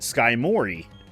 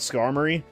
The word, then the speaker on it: Skarmory: We always would pronounce Skarmory, because Skarmory is the correct pronunciation. I would call it Skymori.